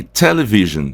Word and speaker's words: television: Então nós temos aqui television. O que nós temos de característico aqui? A gente já tem de cara, por exemplo, esse E aqui é um E que a gente pronuncia um pouco mais aberto.